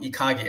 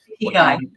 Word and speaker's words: ikigai: I try to tell my kids, and apparently I've been pronouncing it wrong. Ikage, right? It's really about ikigai.